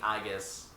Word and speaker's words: Aegis: oh yeah I forgot they changed the pronunciation now she says aegis instead of saying I guess just how it should be said whoo the announcer